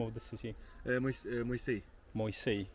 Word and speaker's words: Moisei: Moisei. Moisei. See? I'm pronouncing it right now, Moisei.